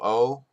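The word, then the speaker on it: を: touch te oh no it was once pronounced wo so it's now the o sound so it's it's supposed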